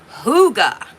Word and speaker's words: hygge: Uh, but a lot of people ask what is huga? So, I have written some notes and it is a Danish word. It is a Danish word and it's pronounced huga.